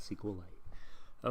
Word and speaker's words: SQLite: because it has because now i know that it only has two syllables to save time i'm going to call it sequel light okay we'll look at